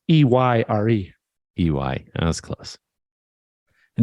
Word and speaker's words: Eyre: It's Ayre, right? It's Eyre.